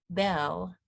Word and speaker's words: Beall: In our 20s, my friend whose name is pronounced Bell, but is spelled Beall, said we must say boldly, we are poets.